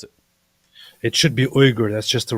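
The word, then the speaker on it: Uyghur: does he pronounce it Wier how does he pronounce it it should be uger that's just the right way it's uger uger it's not I always hear weager I always hear weager weager talking about the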